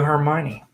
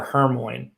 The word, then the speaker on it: Hermione: spell it out, but I used to call her Hermione. So in the first 3 books, when I would read and talk to my friends, I called her Hermione Granger, and it's not how you say it.